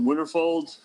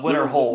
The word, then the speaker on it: Winterhold: Is it Winterfold? I always get the name wrong. Winterhold. Winterhold. Yeah, Winterhold. Winterhold.